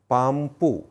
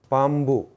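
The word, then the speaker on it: பாம்பு: So a person who doesn't know tamil will pronounce it as pampu. But a Tamil speaker will not pronounce it as pampu. So they'll pronounce it as pambu.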